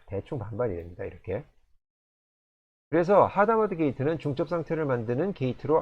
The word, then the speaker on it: Hadamard: 게이트가 있습니다 여기서 잠깐 이거를 아다마르 아고 발음하는 분들도 계신데요 사실은 이게 프랑스의 수학자 작 살로몽 아다마에서 따 아다마르에서 다온 곳이기 때문에 아다마르 아고 읽을 수도 있습니다 그렇지만 제가 본 양자 컴퓨팅에 관련된 해외 유튜브들이 출연자 분들은 모두 하다 마드라 발음하죠 저는 하다 마드라 발하겠죠 하다마드 게이트는 0이 100%